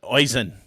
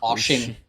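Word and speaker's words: Oisín: I mean, Oisin. Okay. I don't know. Oisin. Oh, no, that's very close to him. This is Oshin.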